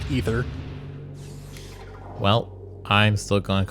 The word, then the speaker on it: Aether: And I think I looked it up, and I think what we've been calling Aether is actually supposed to be pronounced Ether.